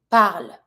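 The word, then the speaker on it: parlent: L with an S the ending isent I'm keeping my B and I put my ending they speak par El par I don't pronounce the ENT so if I want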